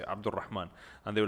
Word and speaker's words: Abdulrahman: because it is Arabic name, so I say Abdulrahman, and they were like Abdulrahman.